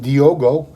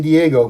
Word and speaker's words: Diogo: from the usa and diogo i didn't say diego don't get mad i said it right diogo montenegro from brazil